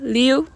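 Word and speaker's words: 六: 좋은 숫자로 여기고 있는데요 숫자 6 에 바르는 리우 로 리 우와 성조 많다 로 발음이 갖습니다 뉴 는 흐르 다운 뜻으로 물이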